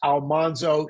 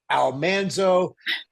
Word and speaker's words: Almanzo: So, we've been saying for years, Almanzo. She said, "Almanso." I I'd been told by in letters for years that we'd been saying it wrong, but there was nothing I could do about that.